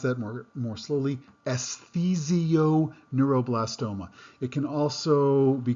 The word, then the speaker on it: esthesioneuroblastoma: I'm going to pronounce that more slowly, esthesioneuroblastoma.